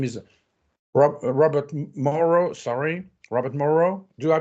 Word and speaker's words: Robert Morrow: Sorry, Robert Morrow. Do I pronounce it correctly?